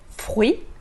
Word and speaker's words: fruits: Les fruits, não se pronuncia nem o S, nem o TS no final, ou des fruits.